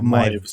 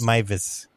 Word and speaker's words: Meiwes: Meiwes. Yeah, the W is a V. Yeah. So Meiwes. Meiwes.